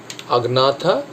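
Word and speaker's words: Agnatha: Super ক্লাসগুলো হচ্ছে আগনাথা আর ন্যাথোস্টোমাটা। এই আগনাথাটা তোমরা কোথাও দেখতে পারো আনাথা বলে লেখা থাকে, জিটা সাইলেন্ট ধরা হয় সেখানে।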